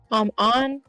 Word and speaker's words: Ann: I know a lot of people like On, and I do like On. I just think her confidants are kind of boring. Why is her name On? It's just so weird. It's spelled like Anne.